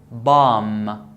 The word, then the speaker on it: bomb: This is bomb. Bomb. No B.